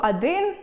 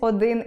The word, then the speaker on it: один: Наприклад, якщо я скажу “адин” або “кали”, замість “один” і “коли” - це буде порушенням орфоепічної норми.